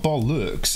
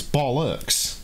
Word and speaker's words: bollocks: look like it's new it's not bo lux it's bollocks bollocks think of it if if it was written as b-o-l-l-o-x pronounce it that way that's how it's pronounced bollocks not spelt that way